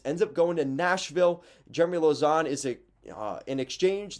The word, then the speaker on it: Jeremy Lauzon: his family's actually reached out to me to pronounce his name correctly jeremy lauzon does that sound right i think i think